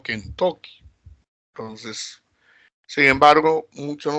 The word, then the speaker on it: Kentucky: Pero en Estados Unidos no se pronuncia, pues, Kentucky, sino Kentucky.